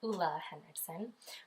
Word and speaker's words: Ole Henriksen: obsessed with is the hoola Henriksen so it's pronounced hoola Henderson hoola Henriksen C rush brightening gel cream I